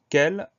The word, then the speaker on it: quel: Donc on fait attention à ce son K qui s'écrit QU. Ensuite à ce son E qui s'écrit avec un E. Et le mot se termine par un L.